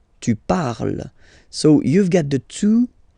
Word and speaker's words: parle: So even if you've got this ENT, well, don't hate me, but you won't pronounce these letters. Okay, you have to write them for the plural form, but you don't pronounce them. So you get il parle, elle parle. So the good news is